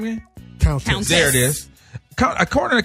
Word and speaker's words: Countess: Remember Candace Vaughn from the Parkers? No, say her name again. Please say her name again. Countess. Thank you. What? Countess. You remember Countess. You remember Countess? Wakanda? Not Wakanda. Countess. It's Countess. Countess. It's the Countess.